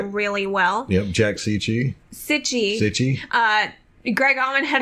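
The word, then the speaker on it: Cichy: pronounce that he said some people are making it sound like peachy that's not right it's - itchy Oh City my apologies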